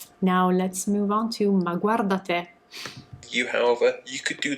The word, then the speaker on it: ma guarda te: Ma guarda te. Okay, now I can breathe. That's how you pronounce it.